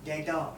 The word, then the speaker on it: debtor: Debtor, debtor nahi. D is silent. The pronunciation is debtor, debtor. Be silent there.